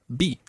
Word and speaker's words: vi: I saw is be. B. Like a B.